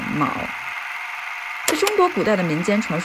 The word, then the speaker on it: 昴: to pronounce this word A lot of people might think ang but the word is MAO The Pleiades in ancient